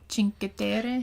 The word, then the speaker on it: Cinque Terre: Do you remember how it's pronounced with what you do from La Spezia? Cinque Terre.